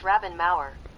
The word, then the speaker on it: Rabenmauer: That's pronounced Rabban Mauer.